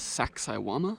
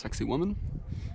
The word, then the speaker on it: Sacsayhuaman: It is Sacsayhuaman, which I was explicitly told that it is not pronounced sexy woman.